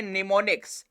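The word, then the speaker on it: mnemonics: नाम दिया जाता है निमोनिक्स, M साइलेंट होगा।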